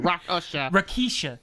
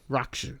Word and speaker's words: Raksha: There's not another A in between the K and the S, so I can't do Rakasha. Raksha. Not Rakisha?